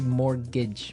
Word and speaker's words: mortgage: Yeah, it has a T in it, but you don't pronounce it. You say mortgage.